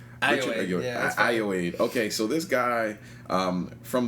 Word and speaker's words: Ayoade: How do you pronounce this? Ayoade. Ayoade.